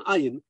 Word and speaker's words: ayin: transmutes itself into an ayin. By the way, aleph is a silent letter. Ayin is a guttural letter, is already expressed in the material world.